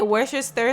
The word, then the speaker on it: Worcestershire: Okay, Worcestershire sauce.